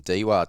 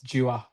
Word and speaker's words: Dewar: Hope I got your last name right. Is that uh is that how you say it? Oh, it's close. It's close. It's Jer.